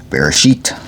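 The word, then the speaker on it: בראשית: Alright, so we left off at Genesis 36, Bereshit. That's how it's actually pronounced in Hebrew, I suppose.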